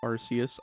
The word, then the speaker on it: Arceus: this game and yes i will continue to call it arceus i'm sorry i just like that pronunciation more originally i wanted to